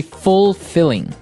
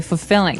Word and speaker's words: fulfilling: pronunciation you don't say fulfilling no you say fulfilling fulfilling so the L there is kind of Silent kind of optional but um maybe you